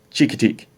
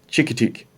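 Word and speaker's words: Chincoteague: was in the lexicon and our last one chica teak chicka teak that's where they take the horses there's a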